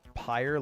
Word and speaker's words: Pyre: It's pronounced pyre, like fire.